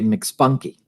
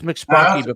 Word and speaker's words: McSpunky: Yeah, it's McSpunky. How else would you pronounce it? Well, for a while I was pronouncing it MC Spunky because I don't know why.